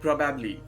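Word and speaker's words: probably: क्योंकि मैंने बहुत सारे लोगों को बोलते हुए सुना है प्रोबेबली। वेल, प्रोबेबली गलत है। इसका एक्चुअल प्रोनाउंसिएशन होता है प्रोबेबली।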